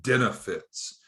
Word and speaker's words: Denefits: What we had been primarily doing is using a financing group called Denefits. It sounds like the word benefits with a B, but Denefits has a D at the beginning, D like dog.